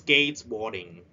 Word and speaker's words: skateboarding: Skateboarding. We spread at the first syllable.